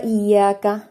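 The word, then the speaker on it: إِيَّاكَ: ഒരു ചെറിയൊരു കുഞ്ഞു നീട്ടൽ അവിടെ നീട്ടി ഓതുകു ഇയാക്ക അങ്ങനെ ഇല്ലേ അവിടെ വാമദ് ഇല്ല നീട്ടാനുള്ള മദ്ദിന്റെ ഒരു ഹർഫും ഇല്ല ഇല്ലല്ലോ അപ്പൊ ഇയാക്ക ഇയാക്കു കഴിഞ്ഞിട്ട് പിന്നെ വാലേക്ക് നമ്മൾ പോകണം അല്ലാതെ അവിടെ കുറച്ചൊരു നീട്ടൽ ഉണ്ടാവരുത് ഇയാക്കുവ ഇയാക്കുവ ഇയാക്കീൻ നസ്തീൻ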